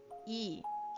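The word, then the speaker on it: いい: E, okay, means good or excellent, fine, nice, pleasant, agreable. E. Okay, it's just two I sounds making a E.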